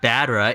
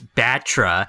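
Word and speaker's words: Battra: of their names wrong it's not badra it's batra and it's not hedra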